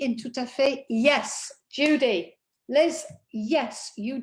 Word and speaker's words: tout à fait: Okay, tout à fait. We're going to look at why in a minute, but basically it's just because it's followed by a vowel.